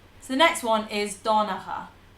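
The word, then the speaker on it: Donnchadh: So the next one is Donacha. Donacha. Not Don Chad or Don Chadach.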